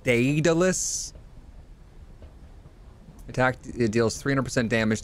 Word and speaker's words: Daedalus: It's pronounced Daedalus.